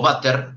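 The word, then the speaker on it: Vater: de spanair si o váter porque en realidad la ve corta en alemán si se pronuncia efe si la ampolla de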